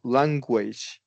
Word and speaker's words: language: Language. Is that the right way? Language, Yeah, yeah, because language. I just skipped you. I language. That's wrong, right? Language. The language, we turn it into a W essentially.